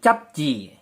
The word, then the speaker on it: 잡지: 잡지 berubah menjadi capci. capci berubah menjadi capci. Dikarenakan bacim biep bertemu dengan konsonan jiet berubah menjadi sang jiet.